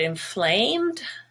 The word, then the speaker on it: inflamed: schwa but gray courageous the word inflamed is gray because the stressed syllable has the vowel a gray in it the rest it's actually